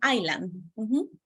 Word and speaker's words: Island: is that people just one correction in pronunciation Island so the state in United States that you say R Island that's the pronunciation perfect okay next everybody